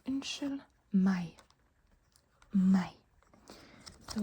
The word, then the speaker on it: meg: If you want to say excuse me, you can say unnskyld meg.